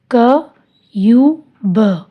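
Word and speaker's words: cube: Example क यू ब, क्यूब, ई silent.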